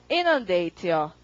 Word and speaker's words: inundate: 그래서 IN 붙이고 강세가 앞이에요. 그럼 발음 어떻게 하냐면 inundate요. 강세 앞에 살리셔서 많이 읽어보시죠.